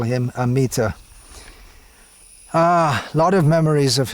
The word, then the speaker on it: Amita: saw the name written A-M-I-T-A, and we pronounced it the best we could. And in English pronunciation, you generally stress the penultimate syllable, so it came out Amita.